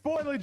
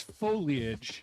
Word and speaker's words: foliage: Is it foilage or foliage? It's foliage. Foliage. It's three syllables.